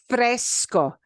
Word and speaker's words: fresco: and that's the word Fresco fresco sounds like the soda Fresca yeah Fresco means cool